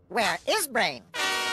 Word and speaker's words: WereBrain: oh where brain gr Penny it's pronounced where is brain and that's a good question it worked I